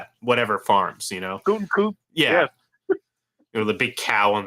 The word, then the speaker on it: Gutekunst: or whatever the hell, however the hell you pronounce his name. Gutekunst, thank you.